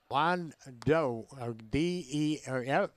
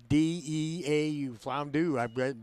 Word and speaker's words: Flandreau: Flandreau, F-L-A-N-D-E-A-U, Flandreau, that's how they say it, South Dakota.